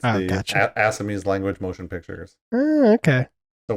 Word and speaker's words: Assamese: It's Assamese. Assamese? Yeah. Sure. Fantastic. That's what I said. Hey. That's why it's Jollywood. Is that Jollywood? Yeah, that would be Jollywood. It's the gotcha. Assamese language motion pictures.